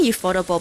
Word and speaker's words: ufotable: us i can't say ufotable by accident um i used to call it that before i found out it was actually pronounced as ufo table um i should check